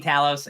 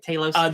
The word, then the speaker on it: Talos: The scene between Talos and Talos. I'm never gonna get it right. Talos. They pronounce it both ways in the show.